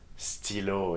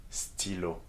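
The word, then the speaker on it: stylo: s what is that stillo yes okay very good that's for pen in english and you see how in this example the igrec is pronounced as e okay stillo and that is why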